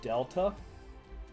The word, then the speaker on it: delta: So the way we measure slope, and right now the triangle means change in, it's pronounced delta.